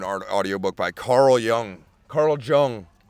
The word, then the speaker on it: Jung: listen to an art audio book by Carl Young Carl Jung it's y j u n g but it's pronounced Jung but that dude was a [